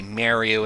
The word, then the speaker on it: Mario: up nah I just it sounds too weird to me when I hear people say merry Oh instead of Mario but I do realize that that is indeed another pronunciation for this guy which by the way